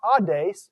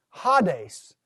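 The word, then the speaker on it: ᾅδης: a rough breather so it's not odd days it's ha days the word for Hades okay notice the next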